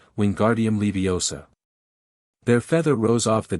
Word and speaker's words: Wingardium Leviosa: Wingardium Leviosa. Ron shouted, waving his long arms like a windmill. You're saying it wrong, Harry heard Hermione snap. It's Wingardium Leviosa, make the gar nice and long.